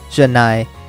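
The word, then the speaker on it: ジャナイ: No, technically you're supposed to pronounce that X as Janai. So, you know, kind of like X, like no.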